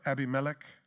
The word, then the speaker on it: Abimelech: didn't and it's about abimelech you remember abimelech or Abby melek depending on how you want to pronounce it or you could put